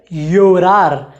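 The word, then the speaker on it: llorar: योरार, योरार का मतलब होता है रोना, अंग्रेजी में टू क्राई।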